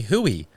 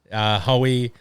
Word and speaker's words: Hoey: And then some people would call me Hooey if they don't know how to pronounce it. no, for which sure. is fine. Yeah. People still do that. And then Hoey is my actual, like, my nickname.